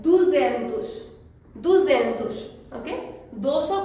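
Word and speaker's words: duzentos: Many people से दोइश सेंतुस, because 2 and 100, दोइश सेंतुस, but that is completely wrong. We cannot say it like that. 200 को Portuguese में कहते हैं दुजेंतुस, दुजेंतुस।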